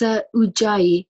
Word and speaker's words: Ujjayi: How are we pronouncing this? It's Ujjayi Yoga, London. And Ujjayi is Sanskrit for victorious.